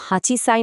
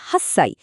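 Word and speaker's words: 八歳: যেমন আট বছর কিন্তু হাঁচি সাই নয় বরং এটাকে বলে হাস সাই।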